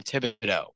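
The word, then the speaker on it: Thibodeau: How the hell do you really pronounce his name? Tom Tibido. Oh, I did say it right. Yeah, you said it right.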